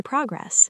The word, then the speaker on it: progress: I am so proud of my progress. Deep dive. Progress as a noun. Stress the pro.